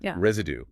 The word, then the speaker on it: residue: The S in residue is pronounced like a Z.